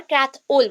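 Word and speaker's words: Krathwohl: एंड क्रैथ whole, और क्रैथ ओल बोल सकते हो, क्रैथ ओल। एच एक्चुअली प्रोनाउंस नहीं होता है, साइलेंट रहेगा, क्रैथ ओल।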